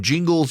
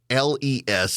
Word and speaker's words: Gingles: And we don't know, is it Gingles or Jingles? In fact, at the Supreme Court today in oral arguments, about half of them are saying Jingles and half of them are saying Gingles. It's Gingles, and nobody can institutionally remember